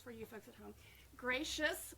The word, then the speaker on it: Gratias: you folks at home gracious which is not spelled the way it's pronounced oh it's g-r-a-t-i-a-s dot